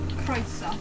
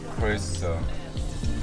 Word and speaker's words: Croeso: Oh, can you also tell me that Croeso? That's welcome, right? That's welcome, yeah. And how do you say that? Croeso. Croeso.